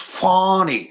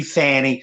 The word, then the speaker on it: Fani: like Mr Trump said it's pronounced fonny with no no U or H in there uh where uh a normal pronunciation would be Fanny but fny Willis her